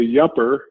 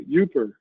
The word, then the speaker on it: Yooper: and he indicated that his grandfather was a yupper and I go usually up you know yupper